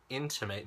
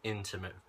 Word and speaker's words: intimate: And number 20, how can I intimate this to my most intimate friend? So the two words intimate, the pronunciation is a little bit different from my most intimate friend. So intimate and intimate.